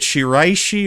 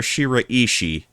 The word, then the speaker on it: Shiraishi: Well, that girl, Mio Shiishi, is it Shiishi or Shiraishi? What? What? What would be more appropriate? Three syllables or four? The latter. Okay. Four syllable.